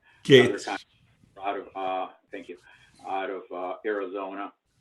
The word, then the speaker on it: Gaetz: I don't know how to pronounce his last name. Gaetz.